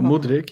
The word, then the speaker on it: Mudryk: Mikhailo Mudryk. I wouldn't be surprised. Purely for price. I think we can. Did he pronounce that right, Alex? Oh, Mudryk, yeah.